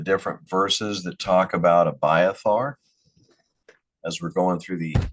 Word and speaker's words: Abiathar: Abiar. Okay. So, I did not have the pronunciation of that correct.